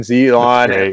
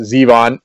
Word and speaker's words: Zevon: So like Warren Zevon, I'm gonna pronounce it Zevon, and like Werewolves of